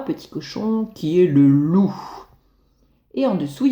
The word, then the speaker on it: loup: Le P, on l'entend pas.